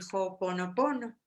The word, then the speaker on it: Ho'oponopono: oído, que es el Ho'oponopono. Y esta palabra está compuesta de Ho, que viene es H-O, porque ves que en Hawái la H se pronuncia como Ho, digo, como J, entonces H-O es Ho.